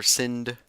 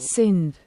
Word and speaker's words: Sindh: Is it pronounced Sindh? S-I-N or Sindh? I'm just gonna make sure real quick using this. Just give me one moment. Sindh.